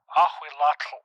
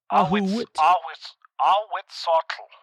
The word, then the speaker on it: Ahuitzotl: Ahuitzotl, or where we go? Ahuitzotl.